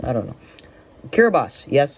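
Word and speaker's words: Kiribati: Kiraabas. Yes, it's called Kiraabas, not Kiraabi. Uh, it's pronounced uh with an S at the end. So, it's Kiraabas.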